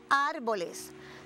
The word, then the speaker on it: árboles: grandísimo y la palabra árboles. Claro, ¿y por qué se quedaron sin casitas? Bueno, porque estas palabras tienen la fuerza de pronunciación en la antepenúltima sílaba y son palabras esdrújulas.